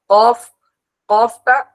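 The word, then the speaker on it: ق: আর কফ, কফটা ক ক মানে গলার মধ্যে একটা বাড়ি লাগবে, কফ কফ।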